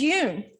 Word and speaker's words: Yoon: But growing up, I found myself saying, "Hi, my name is Yoon. It rhymes with moon." Sometimes I'll vary it up and say, "I'm Yoon. It rhymes with spoon."